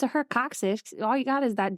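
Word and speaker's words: coccyx: so I said tailbone wow yeah wow it's coxic wow couldn't spell it but I can say it it's C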